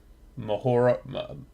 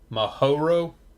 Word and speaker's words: Mahoro: We made oh my god, I'm gonna say the name wrong. Mahora. How'd you say it, Surge? Mahoro.